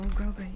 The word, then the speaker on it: grosgrain: Oh, I didn't know that's how you pronounce it. Oh, grosgrain, yeah. I've been saying Grosgrain for years. So I always use a glass head pin, always.